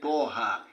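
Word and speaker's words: طه: When you say Toha, you don't get, you pronounce them without the Hamza.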